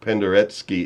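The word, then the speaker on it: Penderecki: Penderetski is usually how I hear it's pronounced.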